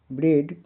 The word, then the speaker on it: bread: जैसे BREAD ब्रेड, ब्रेड का उच्चारण प्रोनाउंसिएशन ब्रेड। यहाँ पे ए के बाद क्या है, डी है, इसका उच्चारण क्या हो रहा है, ए हो रहा है। आ बी ब रे अड, यानी ए का उच्चारण ए हो रहा है।